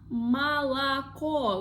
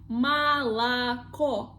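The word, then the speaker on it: молоко: word like malako, like malako. We pronounce like O, only the last symbol, only the last letter, because it is the stressed letter. But the previous ones we pronounce like a, malako, malako.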